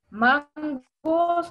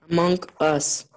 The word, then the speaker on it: Among Us: ¿O Among Us pronunciado correctamente? Mangos, no me lo... El Mangos, no. Among Us, así se llama.